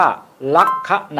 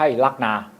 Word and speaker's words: ลัคนา: ราศี และ คำ ว่า ลัคนา อ่าน ว่า ลักคนา นะ ครับ ไม่ ใช่ ลักนา ลักคนา หมาย ถึง ตำแหน่ง ที่